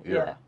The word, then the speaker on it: Era: How do you pronounce it? Is it Era? Era.